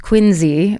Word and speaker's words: Quincy: Greetings from Quincy, pronounced Quinzy by the locals.